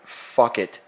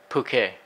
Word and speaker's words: Phuket: The wedding is occurring in Phuket, Thailand. Phuket. No, it's Phuket. Which is pronounced Phuket.